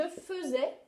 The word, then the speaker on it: faisais: petites précisions quand même le verbe faire on va l'écrire comme ça je faisais et là ça se prononcent eux et puis on va